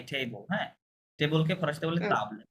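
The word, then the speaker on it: table: বি এল মাই টেবল হ্যাঁ টেবলকে ফরাসিতে বলে তাবল এ বি এল ই হ্যাঁ তাবলে একই বানান জাস্ট উচ্চারণটা তাবলে মাতাব তাহলে মাতাব হবে কারণ তাবলে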